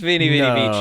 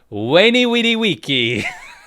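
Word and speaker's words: veni, vidi, vici: Wasn't pronounced Vini Vidi Vici. No. Instead, Weni Widi Wiki.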